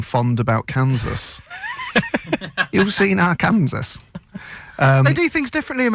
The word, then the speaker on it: Arkansas: It turns out Vin didn't think Arkansas was the name. He thought it was Arkansas. Turns out it's pronounced Arkansas.